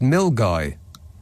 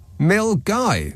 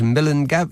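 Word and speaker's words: Milngavie: i e is pronounced mil guy why mil guy so almost all of the letters in that word are silent and some of them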